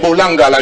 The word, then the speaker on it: Bolangala: Vous prononcez ça en français. Voilà. C'est Bolangala.